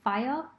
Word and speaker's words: FHIR: about how to use fhir which is often pronounced as fire by doing a very detailed